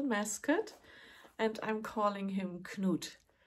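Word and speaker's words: Knut: and I'm calling him cot knot is is spelled k n u t so it might look like a nut but it's not it's cot and he's cute he's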